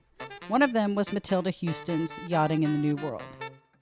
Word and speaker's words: Houston: The spelling of her last name is Houston, which to a Texan looks like Houston, but if you think about Houston Street in New York City, it's Houston. Yes.